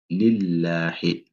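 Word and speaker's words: لله: Maintenant, pour le verset 2 ici, donc là, on a Alhamdu lillahi, lillahi. Là aussi, comme je l'ai dit, ça doit être clair. Hein? Lahi, lahi, pas Allah.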